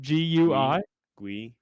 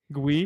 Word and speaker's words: Gui: How do you say that first name? Gui. Gui. Guy from Brazil.